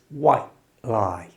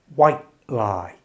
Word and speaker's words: white: For natural British speech, we often don't pronounce the final T in white.